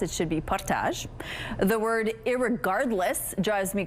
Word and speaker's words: Portage: Dave shared the mispronounced word he can't stand is portage, a French word which is anglicized. It should be partage.